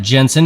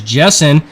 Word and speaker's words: Jessen: back there of andrew jessen again sorry we were pronouncing that jensen it is jessen wow the 11 of